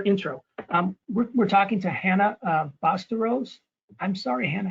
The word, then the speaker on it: Bastawrose: We're talking to Hannah Bastawrose. I'm sorry, Hannah, how do you say that? You got it. It's spelled phonetically.